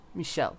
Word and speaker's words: Michelle: Michelle. Stress on the first syllable.